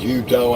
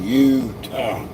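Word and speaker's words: Eutaw: Uh, and it's not spelled like Utah and the state of Utah. It's Utah, Alabama. It's spelled E W T A W. Oh, no, excuse me. Eu, T a W. Utah. And please don't mispronounce that.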